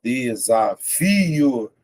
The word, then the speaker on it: desafio: Separei, ó, desafio. Ó, desafio. Veja que o f é a sílaba mais forte, tá vendo? Então, é a penúltima.